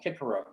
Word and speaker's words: Cicero: remember taking latin and everyone joking that we couldn't call cicero uh cicero we had to call him kikero and uh certainly you're